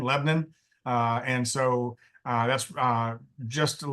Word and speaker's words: Lebanon: It's pronounced Lebnun, Lebanon.